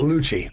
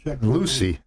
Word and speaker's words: Lucie: st lucie right yeah guys is it lucy or is it luchi lucy okay i hear a lot of psl just because they don't know how to say it right um hey guys i